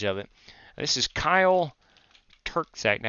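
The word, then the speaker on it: Terczak: c k Tac I I think the C in the middle is silent if I'm not mistaken he corrected me one time and I have since not really forgotten I know there's a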